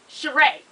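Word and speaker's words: Sheree: I told y'all about Sherry but she said I've been saying her name wrong the whole time honey it's called is she shereé okay shereé there you go she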